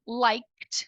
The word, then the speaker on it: liked: aqui do último som o último som da palavra like é o mesmo de Talk e look Talk look like então liked no passado vai ter